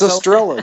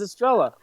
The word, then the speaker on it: Estrella: It's Estrella. You've got it. Oh wow, it actually is Estrella.